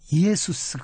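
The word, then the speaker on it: Ἰησοῦς: 많이 씁니다 예를 들자면 그 예수님의 정확한 발음은 예수스 든요 예수스 그런데 영어로는 지스고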